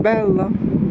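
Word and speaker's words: bella: Треба вимовляти два л, а я всього один. Белла, треба казати більш протяжней Л.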